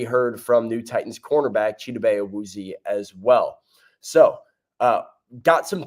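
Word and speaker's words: Chidobe Awuzie: Cheetos Awuzie is how you are going to pronounce his name.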